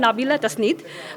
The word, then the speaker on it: নাবিলা তাসনিদ: আমি দেখতে পাচ্ছি গতকাল থেকেই অনেক পত্রিকাতেই আমার নাম একটু ভুলভাবে উচ্চারণ করা হচ্ছে। তো আমার নামটা আমি নিজেই বলতে চাই, ইঞ্জিনিয়ার নাবিলা তাসনিদ।